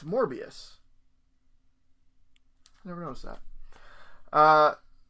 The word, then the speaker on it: Morbius: more i'm sorry more they spell more abyss they spell it more is that wrong it's morbius i never noticed that